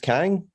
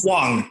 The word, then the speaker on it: Kwang: What your name's pronounced Kang? Is it? Oh, it's Kwang. It's Kwang. I go by Kwang.